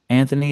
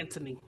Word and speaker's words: Anthony: His name is Anthony. Yeah, it has a H, but they don't say it.